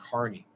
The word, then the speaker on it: Kearney: Kearney, Missouri is spelled Kearney, but everyone says it's pronounced Kearney.